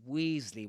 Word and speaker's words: Weasley: Weasley with that long e sound in British English.